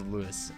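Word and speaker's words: Louis: is the lewis armstrong not Louie Armstrong despite what people might say and I know that because he is actually said I am NOT French so as Lewis although Louie would be the French pronunciation and probably the proper one from mr. Armstrong it's a Judas good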